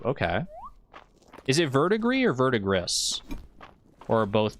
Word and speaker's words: verdigris: Is it verdigris or verdigris? Or are both pronunciations acceptable? I think I want to say verdigris. Like vertigo. Verdigris. Like the French word for gray.